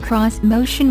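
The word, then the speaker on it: Xmotion: on Japanese design elements this motion pronounced cross motion was designed to have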